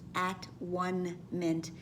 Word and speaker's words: atonement: And there is, of course, many of you know, an alternate pronunciation that is very popular. Instead of atonement, which for many has too many religious connotations to it, to pronounce it as at one meant, because that is true as well.